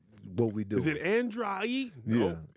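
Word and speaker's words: Andraé: of older school yeah his name is Andre yes a lot of times Andre people got hands and it's spelled a n d r a e extra so you got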